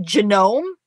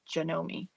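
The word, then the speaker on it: Janome: do you say it is it genome it's not is it jomi jomi jomi that how you say it Sandy like jomi spot on okay margol Le everyone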